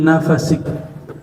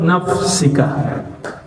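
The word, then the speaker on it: نفسك: Sebagian ulama membacanya sebagai "fi nafasik." "Di dalam napasmu, yang disebut" dhikr anfas. "Keduanya benar. Tetapi menurut bacaan Al-Quran , yang benar adalah" nafsika .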